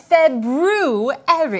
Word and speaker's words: February: are currently in oh the proper pronunciation for the second month of the year is February I know that because